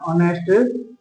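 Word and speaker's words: honest: यहां एच है वो प्रिय विद्यार्थियों साइलेंट रहता है। इसकी ध्वनि आती है वह इस प्रकार आती है। किस प्रकार इस प्रकार ऑनेस्ट मैन ठीक है?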